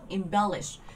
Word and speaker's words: embellish: Vậy thì đáp án C mình sẽ nhớ lớp 2 do các bạn thấy nó ghép cái từ im đằng trước, embellish. Nên trọng âm nó sẽ vào bear.